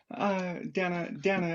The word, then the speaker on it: Dana: Dana is how it's pronounced.